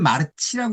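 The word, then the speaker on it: Marci: 읽을 때는 마르치라고 읽지만 저희가 이해할 때는 마르쿠스의 친구이다라고 번역하시는 거죠. 그래서 나는 마르쿠스의 친구이다.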